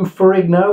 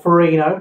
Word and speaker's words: Ferrigno: Lou Ferrigno, or Ferrino, depending on how you say it.